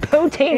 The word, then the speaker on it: poutine: Oh, I love how he pronounces poutine. Poutine!